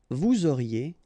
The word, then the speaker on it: vous auriez: Vous auriez, EZ at the end, et auriez, and then the liaison, vous auriez.